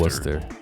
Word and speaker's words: Worcester: It's spelled Worcester, but people call it Worcester. Worcester. It's actually pronounced Worcester, yeah.